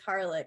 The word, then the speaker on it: Harlick: we both have like my last name is harlick it's spelled it's not spelled that way but i always say garlic like garlic and uh and so